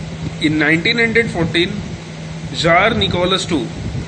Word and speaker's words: Tsar: इन 1914 jar Nicholas II, ये देखो ये वाला जो वर्ड है ना, TSAR, ठीक है, इसे जार पढ़ते हैं, ZAR, ठीक है, जार, T साइलेंट रहता है, जार निकोलस II, ठीक है.